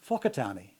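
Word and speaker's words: Whakatāne: And then they're told to pronounce words like Wakatani with an F sound, as in Whakatani. In other words, pronounce them differently than how they're spelt.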